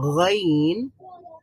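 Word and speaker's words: غ: যেমন আমরা যদি গ উচ্চারণ করি, গাইন বলেন আপনারা, গাইন, গইন, খ, গইন, খ, খ, গাইন, খ, গইন, খ, খ, গাইন, গইন, খ।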